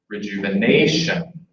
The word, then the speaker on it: rejuvenation: holding a rubber band and I'm gonna go Rejuvenation Rejuvenation Rejuvenation so that helps us make the stress syllable longer then to get it higher we're